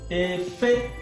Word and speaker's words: efe: If this efe, if I put high tone here, this ending letter, if I pronounce it high, efe, it will no longer mean clothes. It will no longer mean clothes. It will mean to fly.